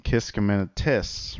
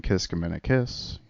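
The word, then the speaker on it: Kiskiminetas: And I've been pronouncing Kiskiminetis wrong my whole life. I've been saying Kiskiminekiss. Go figure.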